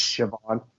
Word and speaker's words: Siobhan: Like it looks like it's spelled like Sibohan. Yes. Or something like that. Yes. It's Siobhan.